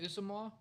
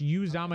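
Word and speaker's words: Uzomah: Isn't it Usamoah? Could you imagine? Yeah, he went to the Jets. It's Uzama. It's I thought Uzama. announcers It's said pronounced. Usamoah. No, it's pronounced Uzama.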